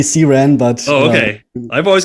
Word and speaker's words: CRAN: called cran right or the cran however you pronounce it yes um there's another good question we'll see we'll see what the split is on that one yeah i learned it's officially see ran but oh okay i've